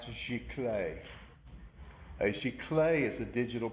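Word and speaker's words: giclée: end of class today uh that word is pronounced chicle a chicle is a digital prince and uh some people say a geechly i heard someone say i'm having i'm paying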